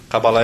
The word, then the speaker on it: cabalá: fala cabala fala cabala cabalá é pronúncia correta Assim como as pessoas confundem a pronúncia de yoga as palavras as pessoas falam yoga a pronúncia correta é cabalá tá então gente todo